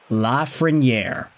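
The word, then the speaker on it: Lafrenière: You know him, you love him, a lot of folks were mispronouncing his name back in his draft season. Today we are talking about Alexis Lafreniere.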